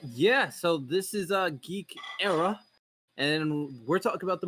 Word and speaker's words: Eire: How do you say it again? Geek Eire. Era. ERA. Kind of like Yeah. the Mesozoic era.